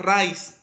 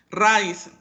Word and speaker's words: raíz: mito no por ejemplo la palabra rice raíz es rice o es raíz a raíz entonces significa que le tengo que poner un acento la y para romper diptongo entonces al momento de separar